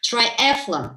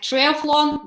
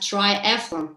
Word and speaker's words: triathlon: how can we pronounce this, but the right pronunciation is triathlon. So you triathlon, not like triathlon, but triathlon.